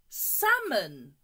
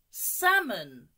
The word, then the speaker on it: salmon: good the next one salmon again the L is silent salmon again salmon good here